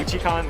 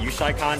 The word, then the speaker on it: Uchi-Con: I pronounce it personally Uchi-Con. That's the way I learned it. I know people before me pronounce it Uchi-Con because it's a shortening of U-Chicago. So Uchi-Con.